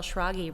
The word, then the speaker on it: Schrage: started telling people shiragi rhymes with froggy yeah because it's not phonetic when you see it no it's not but